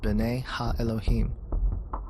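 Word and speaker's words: בְּנֵי הָאֱלֹהִים: of God mentioned here in the Hebrew is pronounced Bena Elohim the Septuagint which is the Greek translation of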